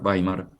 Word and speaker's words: Weimar: En segundo lugar, la Constitución alemana de 1919, conocida como la Constitución de Paimar, que se escribe weimar W e y latina m a r. Weimar Baimar.